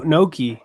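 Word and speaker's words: gnocchi: Noki. Yeah. Yeah. I'm like Ctier. That's Noki. All right. What do you think about Ctier? I mean, Noki is like, it's good.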